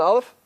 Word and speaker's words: Aleph: a dog pronounced an Aleph that's only if you have a particle of hummus on dirt listen how I pronounce an alpha did you hear it there's no sound it's connected with something